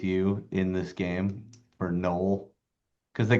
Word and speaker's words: Noel: Because they call him null, not Noel. Some people call him Noel. He calls himself null. So just my name is Noel. Her name is Noel. Nol. It's all one syllable.